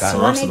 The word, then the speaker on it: Solorzano: Pronounce my name. Solorzano. Solorzano. Solorzano. Yep. Yes, Solorzano.